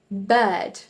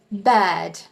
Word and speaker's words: bird: If you were to say this in an American accent, you would say bird, bird. But in the British accent, you say bad, bad.